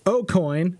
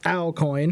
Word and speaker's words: Aucoin: before Ryan's in chat how you pronounce his last name according to him is Aucoin not al coin coin coin but close